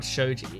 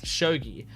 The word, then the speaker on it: shogi: It's not Shogi, it's Shogi. It's about Shogi, which is a board game type thing, as far as I know, like a chess type game. I've never played Shogi.